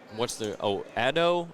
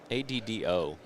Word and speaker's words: Addo: Addo? Did he ever pronounce it? ADDO.